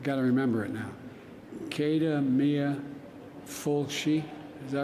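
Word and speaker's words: céad míle fáilte: I never pronounce it correctly, but it's Cada Mia, I got to remember it now. Cada Mia Fulci, is that right?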